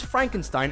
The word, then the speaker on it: Frankenstein: to adapt Mary Shelley's Frankenstein Ainsworth comedy by the name of Young Frankenstein it's pronounced frank enstein film is considered by